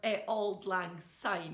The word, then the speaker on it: Auld Lang Syne: Or Auld Lang Syne, if you want to pronounce it properly.